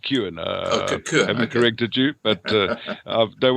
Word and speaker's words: Cuan: book balala i'm going to pronounce it it's pronounced q and ah corrected you but uh don't worry about it's